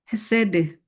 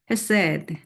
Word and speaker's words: 헤세드: 여기 헤세드 사랑, 인애가 사랑이고 정의가 뭔지 봅시다. 정의와 공의가 우선 사랑을 한번 다시 볼까요? 헤세드 히브리 말로 헤세드 헤세드 이 C 발음은 안 하네요.